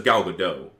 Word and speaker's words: Gal Gadot: A lot of people say it's Gal Gadot, but I've heard her say her name on Jimmy Fallon. She says Gal Gadot.